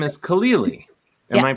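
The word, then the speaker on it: Khalili: your last name is kalili am i pronouncing that right mm-hmm but that's not hard it's like khalil gibran yeah and then you add an e and another e sound yeah that's my mnemonic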